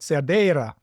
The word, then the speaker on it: Cerdeira: Ah, thank you for, no, it wasn't perfect, Cerdeira. My Portuguese can be good if I'm reminded correctly. Luís Cerdeira of Soalheiro, again, pronunciation probably not perfect, Soalheiro of the Minho region of northern Portugal.